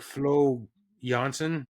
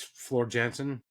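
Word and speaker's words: Floor Jansen: pronounced differently I'm sure I think it's like Flo Janssen but to my English eyes it's FL Jansen FL Jansen yeah she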